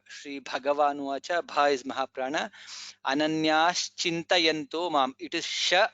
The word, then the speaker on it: अनन्याश्चिन्तयन्तो: In this shloka, Sri Bhagavanuvacha, Bha is Mahaprana, Ananyas Chintayanto Mam. It is Sha, not Sa. I have heard many people saying Ananyas Chintayanto. It is not Sa, it is Sha. Sha. Ananyas Chintayanto Mam.